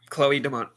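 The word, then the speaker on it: Chloé Domont: Oh, I'm going to mess this pronunciation up so bad. Chloe Dumont. That's right. Yeah, Chloe Dumont.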